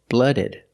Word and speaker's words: cold-blooded: We take the noun blood, we put ed, we pronounce it ed, blooded, blooded, cold-blooded.